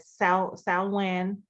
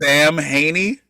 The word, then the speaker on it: Samhain: i'm so confused because they said sound when in the movie but when you look it up it's spelled like samhain s-a-m-h-a-i-n sam haney h-a-i-n what in the [